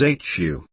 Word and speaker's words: HU: who it is 78 pronounced as hu in a long drawn out manner his attention remains fixed